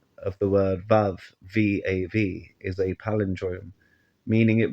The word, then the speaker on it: vav: of the word VAV V A V is a palindrome meaning it reads the same in Reverse pronounced VAV in modern Hebrew its old pronunciation was wow fitting because it is